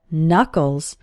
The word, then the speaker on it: knuckles: your hand are called knuckles the first K in this word is silent and if you hold